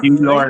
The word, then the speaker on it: Cuellar: All Cuellar, right. yeah. How you pronounce Got it?